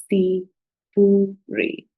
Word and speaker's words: sifuri: So the 0 in Swahili is called sifuri. Sifuri. Sifuri. So that is a combination of syllable si and syllable fu and syllable ri. So it makes it sound sifuri. So that is the first number.